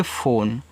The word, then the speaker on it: phone: PHONE इसे पढ़ेंगे फ़ोन, तो PH से आपका फा, ओ से ओ की मात्रा फो, यन से ना। इस लास्ट वाले ई का उच्चारण आपको नहीं कहना है क्योंकि यह एक इंग्लिश वर्ड है, ठीक है।